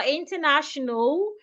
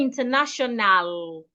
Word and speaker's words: international: So we don't say international, international. The letter A after the N, after the second N, is silent.